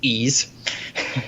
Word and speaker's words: Ys: ease games and yes the pronunciation you had last week was correct it is ease so I know I